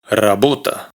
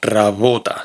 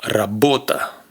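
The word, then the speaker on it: работа: Por ejemplo, esta palabra se pronuncia rabota, no rabota, sino rabota.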